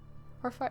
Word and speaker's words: Hearthfire: Hearthfire? Yeah, that's how you pronounce it.